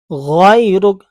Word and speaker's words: غَيْرُكَ: وَتَعَالَى جَدُّكَ وَلَا إِلَٰهَ غَيْرُكَ. اب بعض کیا کریں، غیر یہ بھائی گاف نہیں ہے.